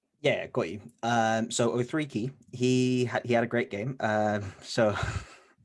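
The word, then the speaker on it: Okeke: you've got people like Okiki getting a lot of minutes. You've got Ken Birch, who's also... You got his name wrong. It's 03 key. It's 03 key, but carry on.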